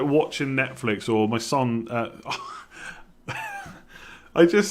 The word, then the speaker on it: Son: i said that because i used to say sun all the time for hyung mean sun and i've been training myself to say son instead people keep saying i'm